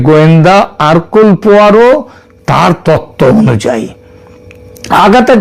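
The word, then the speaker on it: Hercule: আঘাতা কৃষ্টির যে গোয়েন্দা আরকুল পোয়ারো তার তত্ত্ব অনুযায়ী আগাতা কৃষ্টি এবং তার গোয়েন্দা আরকুল পোয়ারো এটা যদিও ওই উচ্চার উচ্চারণে এটা হয় হারকিউল কিন্তু একচুয়ালি উচ্চারণটা হচ্ছে আরকুল পোয়ারো তিনি যদি আজ বেঁচে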